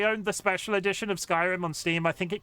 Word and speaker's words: Skyrim: Until I heard them say it in game, I was pronouncing it skyream. Reaming along. Skyrim. Skyrim. The rim of the sky.